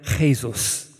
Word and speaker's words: Jesus: they um they had this Brazilian Striker called Gabrielle praisos he now plays for some other small club and um his name is spelled Gabriel Jesus and man city had